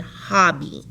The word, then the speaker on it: hobby: Same thing with hobby. Hobby. We have a Y at the end of a 2-syllable word. It's making the long E sound.